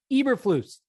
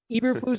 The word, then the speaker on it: Eberflus: Eberflus. I told you guys every single day this week, Eberflus is coming out of my mouth because that is the way you pronounce it.